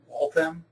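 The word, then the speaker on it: Waltham: Walam. Yes, they pronounce the H in Walam which is right next to Boston.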